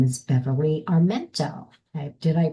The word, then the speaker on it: Armento: And her name is Beverly Armento. Did I pronounce that correctly, You Beverly?